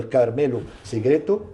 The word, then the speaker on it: Carmelo Segreto: Vous avez obtenu un prix d'interprétation, meilleur acteur, pour votre rôle dans le court-métrage Umam de Carmelo Segreto. Je prononce bien?